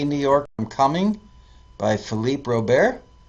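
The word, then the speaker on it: Philippe Robert: York I'm coming by Philipe Rober or Philipe Robert if you give it the American pronunciation and number four was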